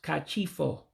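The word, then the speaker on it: Ka chi fọ: It's pronounced kachifo, which means good night. Kachifo, good night. It literally means let the day break.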